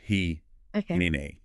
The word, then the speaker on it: hineni: And the antidote to that is all wrapped up in this one single ancient Hebrew word, hine. Pronounced hineni.